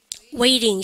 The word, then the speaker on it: waiting: 그래서요, 보기에는 완전 다른 발음 같지만, 여러분들 어떤 거, 미국 애들이 요거를 웨이링으로 발음하기 때문에, 요마랑 많이 헷갈리는 시험 문제 출제 1입니다.